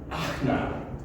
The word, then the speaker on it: Anna: And there was Anna, pronounced Akna.